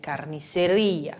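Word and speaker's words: carnicería: açougue açougue em espanhol se fala carne seria carnisseria sempre vibrando o r carniceria e aqui que a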